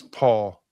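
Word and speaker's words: Pahl: And Wes Paul, a punter out of Oklahoma State. And that's how you pronounce his last name, even though it's P-A-H-L. And it's not Les Paul like a guitar.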